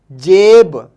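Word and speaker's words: جیب: और अगर लफ्ज़ के बीच में ई की आवाज़ आए, यानी कि ए की आवाज़, ए, तो एक बीच में जो इस्तेमाल होगा वो इस तरीके से होगा, जीम ये बे, जेब, जेब, जेब, और इसका मीनिंग होता है पॉकेट, ठीक है।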